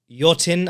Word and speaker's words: Yothin: But you had a featherweight title fight between Chyla and Yotin. I'm reliably told it's said, even though it's spelled Yothin, which you can find on the RWS YouTube channel.